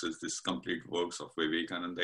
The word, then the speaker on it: Vivekananda: of, not sure how I know how to pronounce it, Vivekananda. Yeah, you can say Vivekananda.